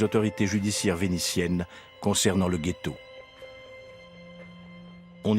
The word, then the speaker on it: ghetto: depuis le Moyen-ge et qui en vétien se prononçaitetto car on y jetait lescorie de cuivre la prononciation ghetto date de l'arrivée des Juifs d'Allemagne c'està-dire qu'elle est postérieure à la création du gethetto ce sont les Allemands qui ont transformer le j en gu aujourd'hui la notion de